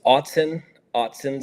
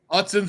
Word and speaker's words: Autzen: Go ahead and pronounce the correct way to say the stadium? So it's Autzen Stadium. Autzen Stadium.